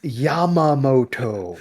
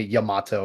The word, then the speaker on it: Yamamoto: used to it like there's one person even though I've told them how to say my name they still call me Yamato and I'm just like